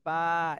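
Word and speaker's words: باء: আচ্ছা, তাহলে এটা হলো দুই ঠোঁটের ভিজা অংশ থেকে উচ্চারণ হবে, এবং এক আলিফ টান দিতে হবে।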